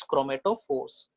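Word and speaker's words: chromatophores: They are pronounced as क्रोमेटोफोर्स।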